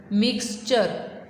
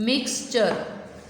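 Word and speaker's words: mixture: अब ये टी और यू ये जहाँ इकट्ठे आते हैं वहाँ च की आवाज़ आती है। वैसे तो टी की साउंड क्या है? ठ, और इसकी अ, तो क्या आवाज़ होनी चाहिए थी? ठ होनी चाहिए थी ना, लेकिन अब यहाँ ठ साउंड नहीं आएगी, यहाँ च साउंड आएगी।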